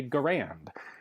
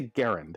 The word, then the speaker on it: Garand: name of John cantius g-a-r-a-n-d typically in the United States you will hear this referred to as a grand however I always refer to it as a Garand and there's a reason for that questions come up as